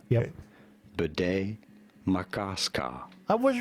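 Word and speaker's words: Bde Maka Ska: How do you go about pronouncing this strange-looking, for some, name? Yep. Bidet Makaska. I was right. Bidet Makaska.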